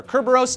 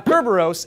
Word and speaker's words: Kerberos: celestial dark family are Kerberos and Styx. Now, Kerberos is the Greek pronunciation and spelling of Cerberus, the hellhound that guarded